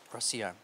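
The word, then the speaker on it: Rocío: Rocio. The pronunciation of your name. Rocio's right, yes.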